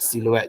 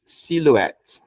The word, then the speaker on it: silhouette: so the H is the H is not pronounced okay so the o u is pronounced as U so C the e t s it's pronounced as s s okay so it's cette silhouette silhouette all right now